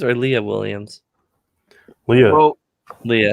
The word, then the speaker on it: Leah: Writer is Leah Williams. Artist is Carlos Gomez. Is it Lee Williams or Leah Williams? Leah. Well, Leah.